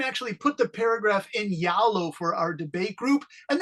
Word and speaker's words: Zalo: Yalo is the main, it's pronounced Z-A-L-O. So Zalo in English, Henry, is Yalo. Yeah. Andrew, do you call it Zalo or Yalo?